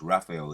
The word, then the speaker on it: Raphael: Gabriel you got Gabriel Raphael let me say it right it's Raphael he's in control of